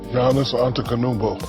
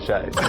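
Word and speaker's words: Giannis: champion the greek freak janice is that right my brother no janis antetokounmpo just call me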